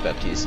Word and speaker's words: Baptiste: Actually, how do you pronounce his name? Who, Baptiste? Yeah, it's Baptiste, okay.